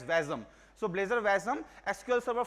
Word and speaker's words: WASM: the sort form is wasm which is pronounced as vasm so Blazer vasm SQL